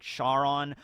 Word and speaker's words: Charon: ever mentioned that karon i think the correct pronunciation is like charon um but i don't